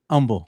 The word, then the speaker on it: Humble: Why do people from Humble say it without the H? Humble. That's just how you say it. I don't know. That's just how you say it. Do you say it humble, not humble? I say humble. Yeah. Humble. Okay. So the Humble. H is silent.